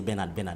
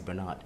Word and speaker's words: Bernard: People say Bernard, but it's Bernard.